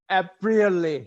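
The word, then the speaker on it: Aprile: have is Professor Elena apriali I hope I pronounced it correctly that's a Italian word Apria appear rally aprily sorry it's like the month of April okay thank you and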